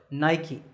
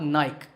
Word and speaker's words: Nike: is the sportswear manufacturer Nike that's right it's not naik there are two syllables nine and key in fact the company's